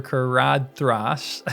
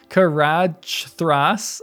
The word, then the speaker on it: Caradhras: And they can't pass over Caradhras. Hold on, wait. Caradhras. I've heard it pronounced with a TH rather than a D.